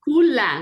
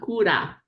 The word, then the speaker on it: kula: Oh, kula, not kura.